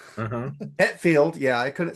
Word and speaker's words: Hetfield: Hatfield. Uh-huh. Hetfield.